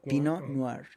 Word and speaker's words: Pinot Noir: Y se escribe Pinot Pinot Noir. Pinot Pino Noar. Pino noar.